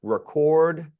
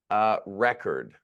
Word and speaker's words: record: And they will change, and you'll have to see, especially I think here, record, record. So you have different pronunciations here, depending on whether it's a verb or a noun.